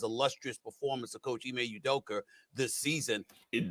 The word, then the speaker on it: Udoka: performance of coach imay udoka this season it doker while people from new york can't pronounce the a at the end of words they put the ers there how does that